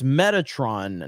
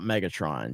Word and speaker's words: Metatron: and um but uh it's Metatron not Megatron yeah Metatron is the